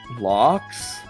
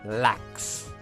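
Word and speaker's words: Lachs: salmon fun fact the German word for salmon is Lux locks locks that's uh however I essentially bully My Mother by always pronouncing it lacks why you do that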